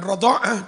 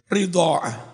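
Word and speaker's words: رضاعة: Qala Az-Zajjaj dawu si Imam Az-Zajjaj ar-radha'ah membacanya bi fathir ra kelawan fathah ra radha'ah wa kasriha lan kelawan mengkasroh ra piye ridha'ah. Tapi wal fathu aksar utawi diwaca fathah radha'ah iku aksarul luwih akeh lebih populer.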